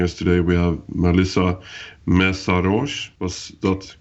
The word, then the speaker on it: Mészáros: And to discuss this topic, joining us today, we have Melissa Mészáros. Was that correctly pronounced?